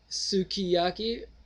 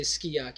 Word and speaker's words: Sukiyaki: You can say Sukiyaki or you can say Skiyaki because the U sound you don't pronounce in most of the Japanese words, anyways.